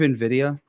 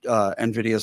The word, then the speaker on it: Nvidia: Are you thinking of Nvidia? Nvidia, is that what Oh, it and is? Nvidia. Yeah, Nvidia. Yeah, he Yeah, pronounces it Nvidia, but that's actually technically Nvidia.